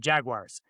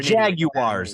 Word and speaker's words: Jaguars: If you say Jaguars, you're Jaguars. It's Jaguars. You have to say you have to pronounce the U.